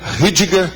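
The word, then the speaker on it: Rüdiger: O autor é Rudiger, é R-U-D-I-G-E-R. Rudiger. No caso é Rudiger. Agora, Safransky, do jeito que pronuncia, com KY no fim, com S.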